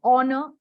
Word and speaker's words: honor: Between C and D, well, H is silent. Yes. So it is honor, an honor, not a honor.